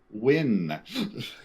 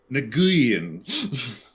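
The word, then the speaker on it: Nguyen: The name Win. Yep. which they kept mispronouncing over and over again.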